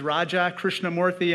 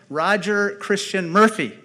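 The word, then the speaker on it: Krishnamoorthi: When I first ran for office, I said, my name is Raja Krishnamurthy, and the person in Chicago looked right back at me and said, Roger Christian Murphy.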